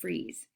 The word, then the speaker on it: frieze: I know, it's not freeze like cold, but it's pronounced frieze.